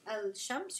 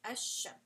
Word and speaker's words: الشمس: So you basically drop the sound of the lam, and you are just going to pronounce the next letter after it. So like الشمس, I'll write an example here. You're going to just pronounce a and then straight to the sheen, right? You're not going to say al shams, you're going to say ash shams.